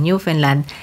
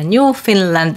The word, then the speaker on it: Newfoundland: Bakit ba binibigkas ko siya na Newfoundland and Labrador? Yun daw po kasi ang gusto nilang marinig Hindi raw po Newfoundland.